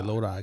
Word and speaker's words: Lodi: I didn't know how to pronounce that. You said it was Lodi? Lodi. Yeah, Lodi, California.